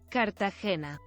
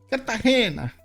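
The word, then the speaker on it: Cartagena: Kartahena. Kartahena.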